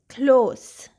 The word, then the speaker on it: close: The heteronym is close with the S sound.